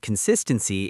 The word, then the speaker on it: consistency: And consistency is consistency. That sis part needs to pop out.